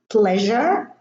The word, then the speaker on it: pleasure: If there is an S before it, then the S is pronounced ja. Measure, treasure, pleasure, and this one is leisure.